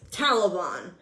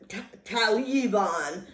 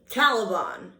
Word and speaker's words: Taliban: Oh, and by the way, it's Taliban, or not Taliban, or whatever the hell you say. Try it with me. Taliban. Because the accent is on the first syllable, not the second.